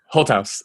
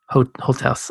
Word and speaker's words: Holthaus: yeah oh and actually first how do you pronounce your last name i thought i should hold that hold house hold house hold house okay there you go thanks cool so this